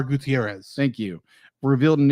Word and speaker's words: Gutierrez: Gutierrez. Thank you. I'm Gutierrez. assuming I'm pronouncing Gutierrez correctly.